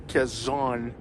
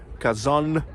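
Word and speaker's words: Казань: Without soft sign, N would be pronounced as N, but with soft sides, it's N. Kazan and Kazan.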